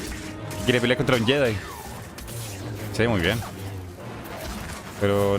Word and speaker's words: Jedi: Se escribe Eddie, pero se pronuncia Jedi.